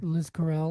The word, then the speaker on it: Liz Corell: How you pronounce that again, Hunter? Liz Corell. Liz XO. Corell. Liz Corell.